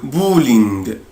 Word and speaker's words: bowling: le bowling. le bowling. أنا هنا يا ولاد بنطق ال OW بنطقها أو، يعني بو.